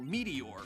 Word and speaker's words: Meteor: checking out the channel Meteor. It's spelled Meteors with a Z, but it actually is just Meteor.